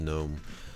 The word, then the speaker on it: GNOME: There's actually a GNOME version of this that comes bundled with GNOME, I guess, or GNOME, but it's just pronounced GNOME.